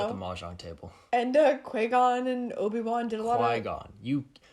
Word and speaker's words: Qui-Gon: Qui-Gon. This isn't even like a Han scenario. No, they all did pronounce it Qui.